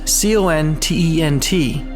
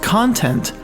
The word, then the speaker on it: content: less to be satisfied the term content c-o-n-t-e-n-t as I have presented here has two definitions the first pronounced content means to represent the information that is to be perceived by something the next definition of the word pronounced content means to represent a feeling of emotion that is of completeness